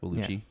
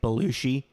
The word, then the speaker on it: Bellucci: Yeah, I think you are correct, Bellucci. Yeah. Because a lot of people say Belushi. Yeah, it's like it's not John or Jim Belushi.